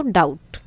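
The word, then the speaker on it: doubt: जैसे यहाँ हो गया डाउट, तो बी से क्या बनता है? ब, तो बाकी तो साउंड आई नहीं, सो डाउट, बी यहाँ पर साइलेंट हो गया।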